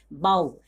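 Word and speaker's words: bough: जैसे कि यहाँ पे बाऊ, क्या पढ़ेंगे इसको, बी ओ यू, यानी कि ओ यू का जो उच्चारण है वो ओ होता है, बी ओ यू जी एच, बाऊ, क्या पढ़ेंगे इसको, बाऊ पढ़ेंगे।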